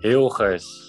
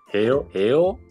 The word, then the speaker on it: Hilgers: So, how do I say your name? The correct pronunciation, yeah. Mees? Yeah, that's quite good. Hilgers. Can you say again? Hilgers. Mees Hill. Gers.